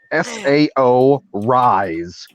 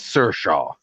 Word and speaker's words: Saoirse: Sao Rise is Saoirse.